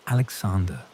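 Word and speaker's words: Александр: In Russia, it became Alexander, with a strong emphasis on the first syllable and a softened ending.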